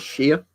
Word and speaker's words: shire: But yeah, we just normally say it as Shire. In the UK, like you're shearing a sheep.